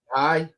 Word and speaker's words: Gallegos: His name is Garrett Gallegos. It's pronounced Gallegos.